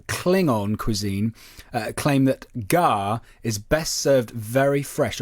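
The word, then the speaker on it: gagh: delicacy apparently is a serpent worms pronounced gawk connoisseurs of klingon cuisine uh claim that gar is best served very fresh or gork is served very fresh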